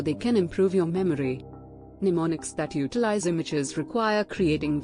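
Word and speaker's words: mnemonics: one effective approach involves using pneumonics pronounced pneumonics which are strategies specifically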